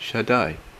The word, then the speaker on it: Shaddai: Strong's reference H7706 is pronounced Shaddai.